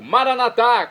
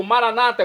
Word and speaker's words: Maranata: eu clamo do aramaico maranat como dizemos nós católicos ou Maranata como dizem nossos irmãos separados evangélicos ou protestantes não importa pronúncia o significado é o